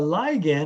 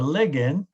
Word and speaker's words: ligand: some new words so a ligand or a ligand however you want to pronounce it those are the molecules